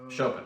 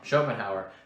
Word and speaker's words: Schopenhauer: i'm gonna stop you though according to schopenhauer chopin oh i can't say his name schopenhauer the man of knowledge is imper imperturbable in